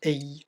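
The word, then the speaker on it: IJ: Petit demi-tour au-dessus de la rivière Ey, qui s'écrit I-J, ça se prononce Ey, ça veut bêtement dire eau en néerlandais.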